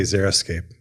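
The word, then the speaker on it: xeriscape: wrong this whole time I thought it was like x e r i zeroscape yeah I think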